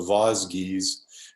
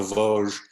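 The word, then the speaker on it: Vosges: pronounce them correctly i i thought they were known as the voz geez not the voge and uh it was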